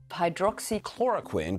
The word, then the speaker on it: Hydroxychloroquine: In the past few weeks, we've been hearing these six syllables over and over again. Hydroxychloroquine.